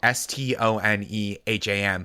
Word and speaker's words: Stoneham: So it's like I grew up in Stoneham, Massachusetts, which is spelled Stoneham.